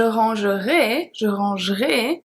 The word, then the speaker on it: rangerai: Personally, I grew up in an area where we always pronounce AI at the end as E. I don't say that we do it right, that's not what I say. I say just that we say it like that.